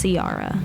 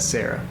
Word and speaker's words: Ciara: And the way you pronounce my name, guys, if you see me in real life, is Ciara. Ciara. Ciara. Not Sarah. Sarah's my last name. Just And So- not Sierra. And not Sierra. Sierra. It's Ciara.